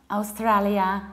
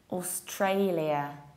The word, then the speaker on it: Australia: And this one, it's not Australia, it's not Australia, it's not Australia, paradoxically enough. It's, attention, Australia, Australia, Austray. So you have in the middle Austray. So in Polish it would be Austray, like ostrej.